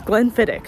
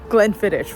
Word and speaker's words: Glenfiddich: It's Glenfidic, not Glenfidish, which is I think what we've been saying.